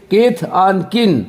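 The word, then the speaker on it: kith and kin: कीथ ऑन, के पे देखिए ऊपर लकीर है, कीन वाले में के पे ऊपर लकीर है, जिसका मतलब कीन बोलेंगे। कीथ ऑन कीन मीन्स रिलेटिव्स, कीथ ऑन कीन मीन्स रिलेटिव्स। आज से पहले अपने लोग यूज करते हैं रिलेटिव्स, तो सब यूज करता है, लेकिन मेरे दोस्त आज से यूज कीजिए कीथ ऑन कीन, कीथ ऑन कीन, एंड नहीं कीजिए, अन होता है, तो कीथ ऑन कीन।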